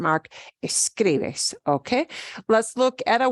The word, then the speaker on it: escribes: If you break that up into syllables, it's escribes. Escribes. We don't punch the bes. Escribes. No. Escribes. Second to last. Escribes. The way we say that obeys the stress rule.